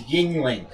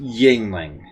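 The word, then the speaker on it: Yuengling: of the yingling and that's apparently how it's pronounced is yingling says i always say you rain we all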